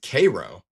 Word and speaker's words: Cairo: They pronounce it Cairo. Interesting, I guess. Not to be confused with the major city in Egypt.